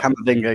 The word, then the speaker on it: Camavinga: Camavinga, how do you pronounce it right? Yeah, Camavinga, yeah.